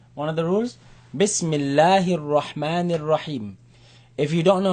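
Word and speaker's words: بسم الله الرحمن الرحيم: Bismillahir Rahmanir Rahim. If you don't know how to say it, don't worry, just try. Bismillah, Bismillahir Rahman, Bismillahir Rahmanir Rahim.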